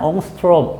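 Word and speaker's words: Ångström: 경로차가 6, 온거스트롬입니다. 6천. 요게 온거스트롬이라고 읽습니다. 옹스트롬. 뭐 이렇게도 읽고 알겠죠?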